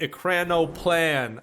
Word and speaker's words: ekranoplan: the russian ekrano plans it's so weird saying russian words in english when you actually know how to say them in russian ekranoplan but then in english it's like a crano plan i don't know it just sounds weird to me guys but basically there's